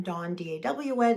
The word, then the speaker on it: Daw: are getting better together I am Don Daw not Don or Donna which people depending on what side of the country you're on seem to mispronounce uh dawn like the morning the recovery lady and